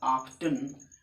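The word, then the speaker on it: often: ऑफन देखिए, ऑफन का दो प्रोनाउंसिएशन है। अगर हम बात करें ब्रिटिश प्रोनाउंसिएशन की तो उसमें बोला जाएगा ऑफ्टन। अगर हम अमेरिकन प्रोनाउंसिएशन की बात करें तो उसमें इसको ऑफन बोला जाएगा।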